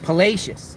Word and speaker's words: Palacios: doing some storm chasing someone say it's pacious palacious okay yeah thank you um I actually did a pronunciation before um before I went live so or we talking about palacious look at that beautiful view out there palacious palacious thank you thank you for correcting me you know Outsiders don't